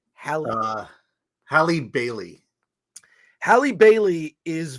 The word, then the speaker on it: Halle: Halle or Haley? Halle.